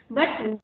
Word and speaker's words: but: Suppose in English we write P-U-T, put, and we pronounce it as put, correct? But now, when teacher is telling me to write B-U-T, and now she is saying it is but.